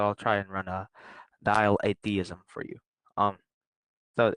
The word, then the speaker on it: dialetheism: Dialetheism. How do you pronounce it?